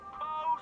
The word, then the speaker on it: faux: These are genuine faux sapphire earrings. 14 karat gold, 86 karat faux sapphire. Faux is a French word. It's got an X in it, but you don't even pronounce the X.